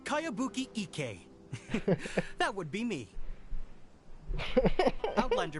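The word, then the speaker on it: Kayabuki Ikki: By Kawabunga Iki. Yoimiya, this is a really What is that strange name? Who's this Kawabunga? It's pronounced Kayabuki Ike.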